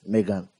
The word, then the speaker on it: M3GAN: Remember M3 G pronounced Megan.